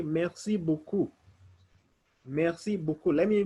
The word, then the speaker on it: beaucoup: You can say, merci beaucoup. Merci beaucoup. Let me pronounce the letters for beaucoup.